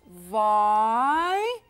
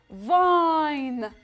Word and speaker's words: vine: كتير سهلة مثل ما عم قولها the letter V بلفظها I pronounce it V V وهون كمان I vine vine كرمة vine the letter N N vine وبالآخر